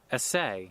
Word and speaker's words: essay: Therefore by force I think essay, it's spelled or pronounced like essay when you're talking about it as a verb. Essay.